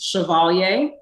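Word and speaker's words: Chavalia: my first name is chevalier and it's spelled c-h-a-v-a-l-i-a it is actually french so the french spelling is slightly different but the pronunciation is about the same yeah my parents decided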